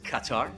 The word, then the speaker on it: Qatar: ] so we're screw other acceptable ways of saying Qatar is Qatar welcome to katar but we're definitely not guitars and we are uh not the gutter regardless of how anybody